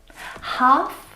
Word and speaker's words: half: other English words that have a silent letter L in them. Words like salmon, Salmon. not salmon. Salmon, not salmon. Half, Half.